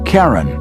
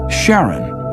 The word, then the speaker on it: Charon: Christie suggested the name Karen after the ferryman of Pluto's underworld in Greek mythology but preferred to pronounce it Charon more like his wife's name Charlene from the motions of